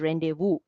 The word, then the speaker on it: rendezvous: to be read but if someone is reading it without any idea they will read it as rendezvous but when you pronounce it you have to call it as rendezvous if you look at